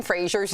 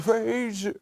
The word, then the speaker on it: Fraser: It turns out we've been saying Brendan Fraser's name wrong. We all thought it was Fraser, like the Cheers character, right?